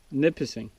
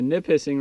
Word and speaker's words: Nipissing: Nipissing. Am I saying it wrong again? Nipissing. Nipissing. Back on the Nipissing River.